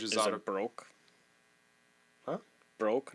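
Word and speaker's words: Brokkr: Broke, not Brock.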